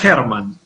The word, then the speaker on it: Herman: ¿Cómo está, Hernán? Muy buenas tardes. Gracias por estar aquí en TV Perú Noticias. ¿Qué tal? ¿Cómo estás? Un gusto. Se pronuncia Herman.